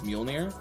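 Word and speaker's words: Mjölnir: dude wheel near also I can say with 100 certainty that that is exactly how you pronounce the the hammer's name it's mjolnir uh because um I literally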